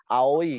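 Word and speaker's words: 青い: Jadi misalnya aoi, orang Jepang hanya bilang ao ya.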